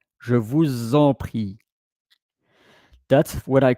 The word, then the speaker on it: je vous en prie: Je vous en prie.